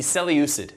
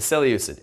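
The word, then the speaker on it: Seleucid: good the final of the three is the cell usage Empire the cell uses s e leu CID s e leu CID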